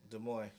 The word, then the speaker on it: Des Moines: Des Moines, Iowa? Des Moines. Right? It's a silent IS or IES. It's French, Yeah.